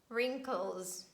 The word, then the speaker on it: wrinkles: the beginning of words we pronounce only r sound and we say right wrong wrinkles wrist rap and again some exceptions